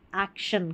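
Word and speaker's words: action: तो यहाँ पर देखिए ए सी को एक्ट पढ़ा, और फिर शन, एक्शन, कार्य या कार्रवाई। तो इस तरीके से बड़ी बड़ी स्पेलिंग्स के पैटर्न आप पकड़ लेते हैं तो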